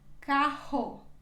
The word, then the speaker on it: carro: quando ela vai também quando quando nós encontramos duas erres juntas no meio da palavra ela também se pronúncia como se estivesse no início da palavra se pronuncia assim carro carro carro depois seguimos com a